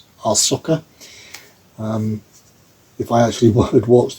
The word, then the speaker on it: Ahsoka: You keep on pronouncing it as ASH instead of AHS, but Ahsoka.